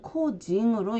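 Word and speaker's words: 個人: 인기와 개인이 있고 일본어 발음으로는 인기일 때는 닝기로 읽고요. 그리고 개인일 때는 코징으로 읽습니다.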